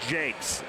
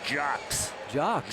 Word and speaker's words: Jocks: Hey, I do want to tell you, Pete, I was told by a couple of people that Henry, it's not Jakes, it's Jocks.